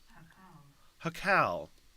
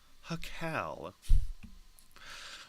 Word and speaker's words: jacal: Spelled Jacal, and it looks like it's pronounced Hokal? Hokal? Let's hit the pronunciation. Hakal. Hakal.